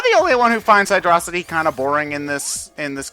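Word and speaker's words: Hydrocity: First off, it's Hydro City. No, it's Hydro... If they wanted it pronounced Hydro City, they would have put a frickin' space there, alright?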